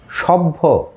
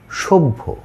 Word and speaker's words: সভ্য: ফলা জ ফলা অ শব্দের শুরুতে যদি অ থাকে তারপর যদি জ ফলা থাকে তাহলে সেই অ এর উচ্চারণ ওকারান্ত হয়। যেমন আমরা লিখবো স ভ জফলা সভ্য না সভ্য।